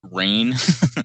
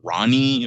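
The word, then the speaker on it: Rahne: And I also have to say that this issue is how I realized how to pronounce rain. Oh yeah, But before reading it, I was always thinking like Ronnie or something like right.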